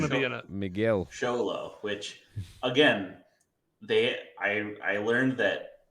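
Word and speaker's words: Xolo: Miguel Sholo, which again, I learned that they it's the same spelling, but when it's a person's name, it is pronounced differently. You do not pronounce it Cholo.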